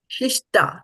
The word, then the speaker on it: śiṣṭā: Shishta, not ha. Shishta. Ta. Shishta. Okay?